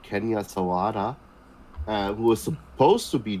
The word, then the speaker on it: Sawada: The character, I mean Captain Hawada. That's how we pronounce his name. Sawada. Sawada. Okay. Oh yeah, I said an H instead of an S.